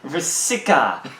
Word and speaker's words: Vrska: Alright, so starting for light cards here, we got 4-drop Warden of Vrska, or Official pronunciation. Vrska.